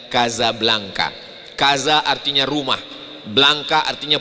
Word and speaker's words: Casablanca: Tulisannya Casablanca. Cara bacanya Kazablanka.